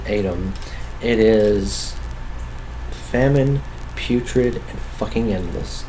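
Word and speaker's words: ATVM: criminally underrated this year adam i think is how you pronounce it it's spelled atv m i think you pronounce it adam it is famine putrid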